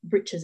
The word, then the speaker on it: breeches: century men always wore breeches or britches as they were pronounced that finished at the